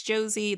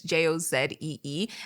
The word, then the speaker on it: Josie: Y'all can check me out on IG at Hey It's Josie. That's Jozee. I hate people who say my name wrong.